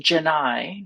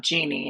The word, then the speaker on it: Janai: Um some of the major tools there are Janai AI and it is pronounced Janai not Genie in this case and then Sci summary